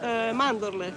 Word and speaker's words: mandorle: almonds, mandorle.